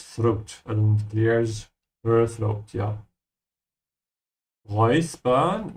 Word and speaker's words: räuspern: Räuspern, make sure to pronounce the letters here as oi.